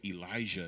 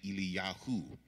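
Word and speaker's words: אליהו: The example I gave was Elijah is actually Eliyahu.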